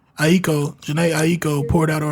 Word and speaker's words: Aiko: Is it Aiko? Aiko.